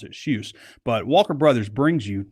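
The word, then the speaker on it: Kjus: It's a brand called Shuse. That's how you pronounce it. Shuse.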